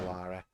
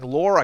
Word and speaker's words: Lara: American bastards stealing our beautiful Lara. Can't even pronounce her name properly. It's Tomb Raider starring Laura Croft. It's Lara.